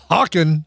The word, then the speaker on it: Hawkin: Oh, next robot says it's Hawkin pronounced like walkin, so it's Hawkin.